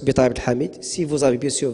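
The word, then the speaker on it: Bitari Abdelhamid: Et le Facebook, c'est Betaï Abdel Hamid, comme ça se prononce, Betaï Abdel Hamid.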